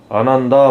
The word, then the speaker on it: Ananda: ANANDA. 발음 나는 대로 아난다 모터래요.